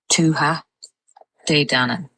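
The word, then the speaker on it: Tuatha Dé Danann: So the one that's now it's tua de dan. So I've seen a couple people kind of saying tua dan and leaving out the day but um it would be tua dan. So dan kind of goes together quite quickly.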